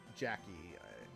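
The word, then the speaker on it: Jakei: by his original designer uh Jackie it's spelled j-a-k-e-i so if you want to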